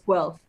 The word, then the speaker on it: Guelph: Guelph, yeah. Yes. Don't mispronounce it, people, because I'll Yes.